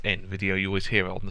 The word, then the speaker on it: Nvidia: want to pronounce it I always call them ner video which is probably wrong but you know I know it's N Video you always hear on